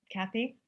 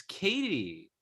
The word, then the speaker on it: Katie: by now paddy pat it's not cathy mom it's katie but you dated someone